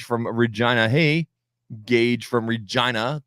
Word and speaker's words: Regina: Hey, Gage from Regina, the city that rhymes with fun.